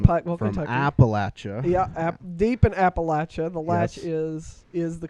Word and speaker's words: Appalachia: pothole yeah from pi appalachia yeah deep in appalachia the latch is is the correct pronunciation and anyone who tells you differently lies